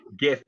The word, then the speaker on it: GIF: you're right that's right according to giphy gift is pronounced for the har g unlike jeff the peanut butter is that the end